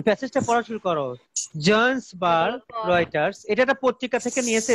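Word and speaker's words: Reuters: এইটা ছাপাইছিল 15 ডিসেম্বর 2013 সালের 15 ডিসেম্বরে তোমার এইটাই ছাপাইছিল জন্সবার্গের রয়টার্সে. আমরা সেটাই পড়তে যাচ্ছি, তো পড়ো, শুরু করো. রিউচার মানে কি জানি স্যার, রিউটার না রিউচার উচ্চারণটা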